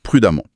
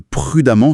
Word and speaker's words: prudemment: Prudent donne prudemment. Avec un piège. Un énorme piège, qui est phonétique. Dans les deux cas, on prononce amant. Ah oui, c'est vrai. Constamment et prudemment se prononcent pareil à la fin.